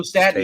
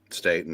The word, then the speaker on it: Staton: Joe Staton, yes. Staton, I think he pronounces it.